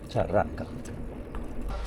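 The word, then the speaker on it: Xarraca: I think the X is pronounced Charraca.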